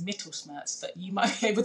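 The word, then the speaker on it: Mittelschmerz: Some women actually experience ovulation pain, which I believe that the proper pronunciation is Mittelsmerz, but you might be able to correct me.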